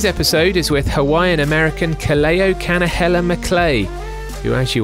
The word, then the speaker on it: Kaleo: hopefully kaleo can offer some words of wisdom kaleo i hope i've pronounced that correctly it's a wonderful name and